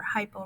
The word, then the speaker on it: hypo: Remember, hypo rhymes with hippo. They like to get big like a hippo.